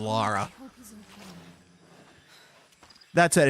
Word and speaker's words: Lara: Honestly, I've had more people pronounce it as Laura for because Laura is more common in America as a name than Lara.